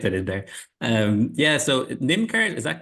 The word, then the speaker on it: NymCard: Yeah, so NymCard, is that correct pronunciation, Tina? You correct me before I embarrass myself. NymCard, yes.